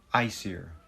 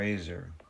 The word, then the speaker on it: Aesir: A E S I R. Pronunciation. Yeah, Aesir. Ice here. Or Aser.